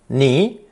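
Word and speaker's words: 尼: down into a ravine this character is pronounced second tone knee and is usually reserved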